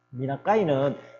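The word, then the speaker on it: 三中井: 미나카이는 삼중정이라는 일본 발음이 되겠습니다.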